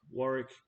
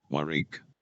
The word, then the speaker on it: Warwick: got uh Warwick uh it's it's spelled differently to what it sounds like but that's because um Warwick the computer can't pronounce it right so I've had to change the way it said it myrique and then you've